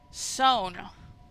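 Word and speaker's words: Samhain: Sow-n or sawn. Rhymes with down.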